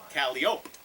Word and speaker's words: calliope: when I recall the night Tom Waits played a calliope or if you prefer the other pronunciation caliope an organ type instrument